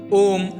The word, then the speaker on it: ओम: ओम पवित्र ध्वनि है इसका उच्चारण करते समय तीन अक्षरों की ध्वनि निकलती है ये तीन अक्षर आ उ और मा है इन तीनों अक्षरों में